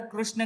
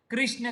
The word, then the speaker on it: कृष्ण: क्या बनता है कृष्ण यहां पर ज्यादातर कृष्ण का उच्चारण होता है उधर कृष्ण का उच्चारण किया जाता है दोनों भी सहित हैं पिसी लिए देखिए कि ज्यादातर उत्तर भारतीय ने इसे रीड की मात्रा लॉर्ड कृष्ण कहते हैं और यहां पर जो है रूप के उच्चारण करते हुए कृष्ण दोनों सही हैं तो कृष्ण यहां